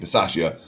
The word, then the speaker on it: Bisaccia: So the new Raiders head coach, Rich Bisaccia, I believe is the way you pronounce his name, Bisaccia, was a special teams coordinator.